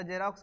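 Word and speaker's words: Xerox: है हां जेरोक्स पढ़ेंगे एक्स ई आर ओ एक्स को जेरोक्स पढ़ते हैं ऐसा ऐसा स्पेलिंग जो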